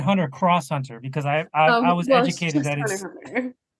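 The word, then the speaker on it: Hunter × Hunter: and just Hunter Hunter you don't pronounce the X well I said Hunter cross Hunter because I I was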